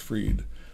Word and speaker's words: Fried: Great pitching by Max Fried, and I have confirmed that it's pronounced Fried.